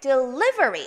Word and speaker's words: delivery: delivery. 어디다 액센트? delivery입니다.